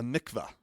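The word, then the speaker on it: mikvah: yeah so anyways uh a mikva is what it's how you say it okay apparently I guess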